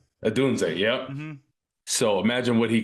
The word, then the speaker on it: Odunze: Oh, Rome Odunze? Odunze, yeah.